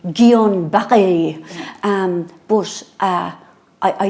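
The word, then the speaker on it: Guillain-Barré: you pronounce it Gan well I pronounce it Gillan gillain bar disease but I think but it's French so I think we should be going gon B um but uh I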